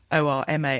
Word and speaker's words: Gnorma: the title, Norma is GNORMA, I think, because that's the sort of visual gag from the start, isn't it? I pronounce it Gnorma throughout, just to add the G in, yeah.